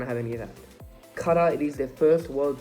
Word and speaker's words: Qatar: is group a obviously you have your hosts cutter that is how you pronounce the country qatar senegal netherlands and ecuador